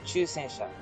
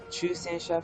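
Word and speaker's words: 中戦車: Ju and Chu are different. They sound very alike, but if you want to pronounce these correctly, it's Chu Sensha for medium and Ju Sensha for heavy tanks.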